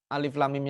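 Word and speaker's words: الم: juga tadi bacanya alam alif.lam.mim ya Al Baqarah itu bukan alam tapi alif.lam.mim berbeda maka sesungguhnya kita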